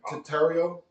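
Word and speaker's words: Tetairoa: you know how to say his first name tario t e t a i r o a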